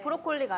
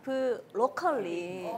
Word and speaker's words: 브로컬리: 브로콜리가 아니라 브로컬리.